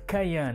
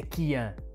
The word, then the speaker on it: Kyan: Eu hoje dizia sempre Kian, né? Mas já não me lembro quem foi, mas um de vocês disse nos comentários que a pronúncia é Kian.